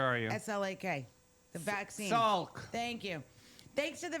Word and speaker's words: Salk: Jonas Slack? How do you say that name? Where are you? S-L-A-K. The vaccine. Salk.